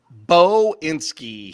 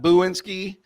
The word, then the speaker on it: Boinski: coming to you Bo inski he made sure I pronounced that correctly bow and ski not buinsky not boyinsky like I said on